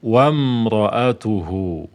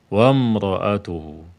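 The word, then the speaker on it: وامرأته: mim sukun Wam Wam alifnya ini ya Hamzah ini tidak lagi di baca beda halnya kalau dia di awal jadi imroah jadi kasro bacanya imroatuhu Ya kan kalau ada di sini sudah didahului oleh huruf yang berharakat maka dia di dilewati wamroatuhu wamroatuhu mim sukun bertemu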